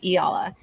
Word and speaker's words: Eala: And then the last name Eala, but it's not spelled like Iella. And it's almost sounds like Ia.